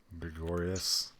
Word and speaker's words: Gregorius: How do you pronounce that name? Gregorius. Gregorius, thank you. I wanted to say Gregorio, but I'm like, that does not sound right.